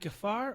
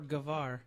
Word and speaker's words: Gafar: You'd sound more intelligent if you pronounced it as a V, but everyone would understand you if you pronounced it as an F.